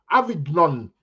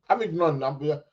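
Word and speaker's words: Avignon: Avidnon. Avidnon. Don't know if I'm pronouncing that right. Aid. Aid. Avidnon. Avidn. It's a silent G, isn't it?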